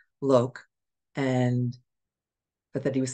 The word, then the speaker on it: Loke: reading with Loki uh Loki I think I'm I know that I I'm pretty sure I'm not pronouncing that right it might be just Lok l o k Loke and but that he